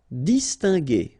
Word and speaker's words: distinguer: Distinguer, okay, so it's interesting here because if you see carefully, you've got this G, and after that here, you've got E. So normally, if you would have this G and E together, you would have the sound je, okay? And the technique in French is to put this U between the two to get the sound G.